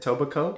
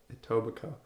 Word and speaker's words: Etobicoke: Etobicoke?